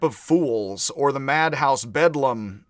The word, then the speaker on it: Bedlam: fools or the madhouse bedlam, I think it is the lower class British way of pronouncing Bethlehem hospital is bedlam.